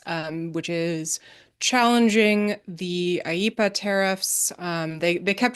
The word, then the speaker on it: IEEPA: Um, so there are to be clear, Quinta, that's pronounced IEEPA.